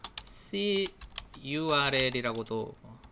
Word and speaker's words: curl: 커에 대서 알아보도록 하겠습니다 C URL이라고도 말하고 리라고 읽는 사람도 있습니다 curl음 여러 프로토콜을 이용해서